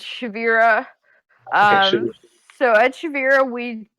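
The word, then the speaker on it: Shevirah: So you have both Bulb Security for your consulting, and then how do you pronounce the other one? Nobody can. Don't worry about it. It's Shavira.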